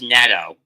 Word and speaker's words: Neto: It's pronounced Neto. Oh, is it Nato?